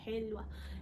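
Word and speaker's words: helva: Tapi ini yang kan kalau di Turki ini bacanya W ya, jadi kita bacanya Helwa.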